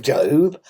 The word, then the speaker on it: Job: It's pronounced Job.